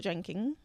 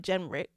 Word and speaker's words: Jenrick: So we have Robert Jenkins. Why did I say it like that? Robert Jenrick.